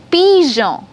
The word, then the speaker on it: pigeon: Now, if you have G alphabet with E and I soft vowels, then the sound is J. Okay? For example, garage, pigeon, orange, genou, giraffe.